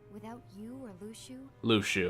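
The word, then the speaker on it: Luxu: see more of them Lu Shu okay that's how it's pronounced I always say it looks ooh I guess yeah Lu Shu does make a bit more sense I'm going to go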